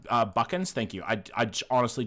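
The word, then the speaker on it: Buchans: It's pronounced uh Buckkins.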